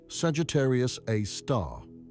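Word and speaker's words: Sagittarius A*: They named it Sagittarius a star, pronounced Sagittarius, a star after the constellation where it resides.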